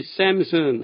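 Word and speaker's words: Samson: 원어민들은 반드시 샘슨 하지만 우린 거의 다 삼손이라고 알고 있습니다.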